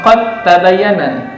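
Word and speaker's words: قَدْ تَبَيَّنَ: Jadi bacanya gimana? Qad tabayyana apa qad tabayyana? Qad tabayyana. Jadi langsung saja.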